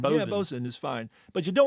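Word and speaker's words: boatswain: use the ungainly nine-letter word which land lers mispronounce as boat sway or what rather economical felet word that is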